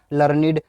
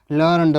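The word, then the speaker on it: learned: जब ये एज a main verb की थर्ड फॉर्म की तरह प्रयोग किया जाएगा तो इसका प्रोनाउंसिएशन क्या होगा लर्नड होगा। और जब एज अ एडजेक्टिव की तरह किया जाएगा तो इसका प्रोनाउंसिएशन क्या होगा लर्न का लर्निड हो जाएगा।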